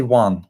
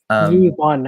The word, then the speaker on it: Yuan: I'm trying not to say Juan, which would be wrong. Yuan, I think something like that.